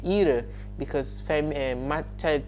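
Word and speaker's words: ihre: when it is feminine it becomes era that comes with an e and when it is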